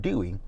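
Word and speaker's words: Duy: his name i'm like how do you pronounce that d-u-y my goal was and she said dewey so she said his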